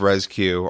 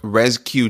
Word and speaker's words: RezCue: job hiding the emphasis and the spelling of rescue are easy C UE and what rescue is